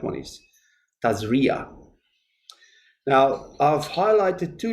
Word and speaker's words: Tazria: we are um in torah portion and i've mispronounced it when i did my daily thing it's not tazaria it's tazria but i think it can be trans uh it's pronounced as tezari as well but i think the right one